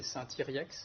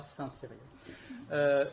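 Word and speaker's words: Saint-Yrieix: Donc, par exemple, moi, je suis né à Saint-Thirier-la-Perche, qu'on peut prononcer Saint-Thiriex, mais dans la région, tout le monde dira Saint-Thirier.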